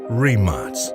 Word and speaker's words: Rimac: or England, but Croatia, and is pronounced Rimac.